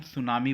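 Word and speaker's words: tsunami: होती है उसको हम सुनामी बोलते हैं तो यहां पर हम पहली जो स्पेलिंग भर देंगे टी एस यू एन ए एम आई सुनामी यह हम भर देंगे य टी साइलेंट है कॉज्ड बाय अब यह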